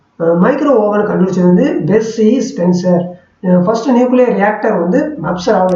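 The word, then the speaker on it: Spencer: இது வந்து Percy ஸ்பென்சர் ஸ்பான்சரா, Percy ஸ்பென்சரா இது எப்படி உச்சரிக்கணும்னு தெரியல, நீங்கள் எப்படி வாசிப்பீங்க கரெக்டாக வாசிங்க.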